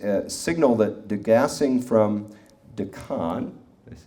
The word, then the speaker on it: Deccan: rock samples from the Deakin traps. Does anybody know this term better than I do? Am I pronouncing that correctly? Deccan? No, Deccan. Accent on the first syllable. Deccan.